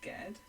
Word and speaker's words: Ged: I think it's Ged, not Jed.